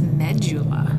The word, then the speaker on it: medulla: um into the renal medulla medulla medulla I've also heard that pronounce medula really really I like medulla better me too but that's this